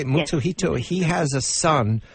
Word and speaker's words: Mutsuhito: Mutsuhito, yes.